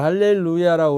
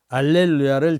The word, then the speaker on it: 할렐루야: 그 원래는 먼지가 할렐루야 유대인들을 할렐루야라고 그랬는데 이제 라틴 문화권이 되면서 h 발음을 무마시켜 버려요 그러니까 이태리나 그 거기에 스페인은 어디 가면은 현대를 연다이라고 그래 h 발음을 빼버리고 연다 저기 발은 그대로 읽어요 그러니까 이제 할렐루야 해도 되고 알렐루야 해도 돼요 근데 라틴 전례에서는 알렐루야를